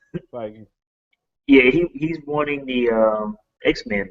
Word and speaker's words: Feige: So there's another story I included, which is Marvel Kevin Feige, or how you pronounce his name? Feige.